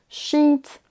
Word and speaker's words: sheet: Sheet, beach, là vous entendez, c'est un I long. On traîne un tout petit peu sur la syllabe. C'est un son qui n'existe pas en français, donc c'est pour ça qu'on a du mal à le faire, nous, francophones. On va remplacer tous les